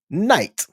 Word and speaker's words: knight: know American Sign Language you don't say the K before the N it's typically the K is silent as we take a